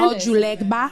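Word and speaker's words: Ojuelegba: Ojulegba.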